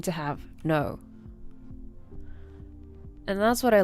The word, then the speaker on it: Noe: My name is spelled N O E and it's pronounced no. It's not Noi. My name is No.